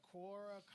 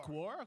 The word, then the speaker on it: Quora: so it's q u q-u-o-r-a-dot-com and uh korra yeah kawara i think quora quora all right so